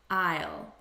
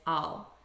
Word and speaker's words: I'll: i will i'll repeat i'll but in natural spoken english the unstressed pronunciation is all i think i'll i think i'll go because we say it so quickly it loses some of its pronunciation i think i'll go